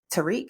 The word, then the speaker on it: Tariq: And then, is it Tariq? Is that, I think, that's how you pronounce his name? Tariq Yeah, Tariq Withers.